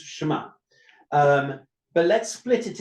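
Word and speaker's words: שמע: its three sounds essentially because in Hebrew it's one syllable shma um some could try to split it sh but it's shma um but let's split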